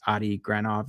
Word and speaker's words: Adi Granov: And then what ended up happening was this artist, his name's, I believe, Adi Granov is how you say it.